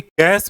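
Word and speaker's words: cache: ठीक है, इसको केस मेमोरी भी बोलते हैं, केक मेमोरी भी बोलते हैं, कैसे मेमोरी भी बोलते हैं, कई तरह से लोग प्रोनाउंसिएट करते हैं, आप जो चाहे बोल सकते।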